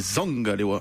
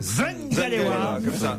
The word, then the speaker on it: Zangalewa: Mais pourquoi on prononcerait bien l'anglais et pas le camerounais n'existe pas d'ailleurs, c'est un dialecte, c'est du bassa, et c'est Zangalewa. Zangalewa.